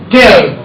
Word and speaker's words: tear: टेयर। Tear. वैसे एक टीयर शब्द भी होता है, आंसू। आंसू, उसका भी स्पेलिंग सेम है, लेकिन जब फाड़ने के लिए बोलेंगे तो क्या बोलेंगे? Tear. टेयर।